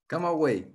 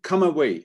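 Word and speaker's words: Camagüey: you pronounce it luis come away come away amazing come away i mean it's not written like that but it's come away so he went away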